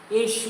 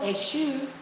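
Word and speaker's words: Èṣù: Eshu is Eshu. It's not Eshu. Eshu. Eshu. A and Shu. Pronounce it like that.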